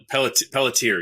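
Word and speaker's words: Peletier: the walking dead uh carol is it peltier maybe is that how you pronounce it pelletier yeah okay yeah so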